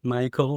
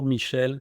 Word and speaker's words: Michel: You can call me Mike, Michael, Michel. In French, it's Michel, but Mike is as good.